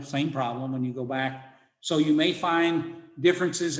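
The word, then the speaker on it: Baal: of the old testament b a a l in english we almost put that together as a glide and it's ba in hebrew it's two syllables because there's a consonantal sound between them was one of those letters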